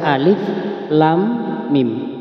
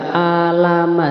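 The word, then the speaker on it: الم: pada ayat 1 ya Alif Lam Mim alifnya ini dibaca satu Alif ya Alif nah dibaca pendek jangan Alif Kenapa ini Kok dibaca Alif Lam Mim Bukan dibaca Alama seperti itu perlu diketahui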